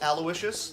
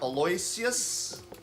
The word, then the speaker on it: Aloysius: lardna and Aloysius Minch it is pronounced Aloysius not Aloysius thanks for good luck